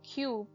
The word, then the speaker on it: cube: OB robe Rob e the word cub changes to cube as the silent E makes the vowel say its name you Cube Cube cub